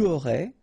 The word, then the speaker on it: aurais: J'aurais, final S not pronounced. Tu aurais, same thing here. Il aurait, elle aurait, final T not pronounced, so phonetically exactly the same form here.